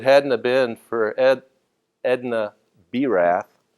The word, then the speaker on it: Birath: have been for Edna Berath, I pronounced it Barath once, and I got corrected by a dentist who, I